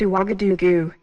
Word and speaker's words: Ouagadougou: I hope I can pronounce this right. It's Ouagadougou.